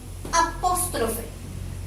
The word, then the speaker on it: apóstrofe: Aquí tenemos la palabra apóstrofe. Apóstrofe. Cargo la voz aquí. Apóstrofe. Veamos. Separa en sílaba. Apóstrofe. Se carga la voz aquí. 1, 2, 3. Por lo tanto, es una palabra esdrújula.